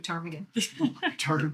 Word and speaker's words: ptarmigan: Ptarmigan.